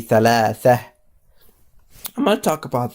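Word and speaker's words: ثلاثة: For example, if I were to continue or just put a tone in it, it will be thalathatun. That I will pronounce the ta. But if I were to stop and put sukoon in here, it will be thalatha.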